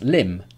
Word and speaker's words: limb: example but of course it's just pronounced limb not limp so what other examples